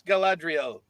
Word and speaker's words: Galadriel: Yes, it is I'm not gonna get you wrong on the mispronunciation because of how often I mispronounce things, but yes, it's Galadriel.